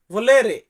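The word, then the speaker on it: volere: এখানে লাস্টে এরে আছে আমরা ইংরেজিতে ই বলি এটাকে ইতালিতে উচ্চারণ করি এ তারপরে এর রে তারপরে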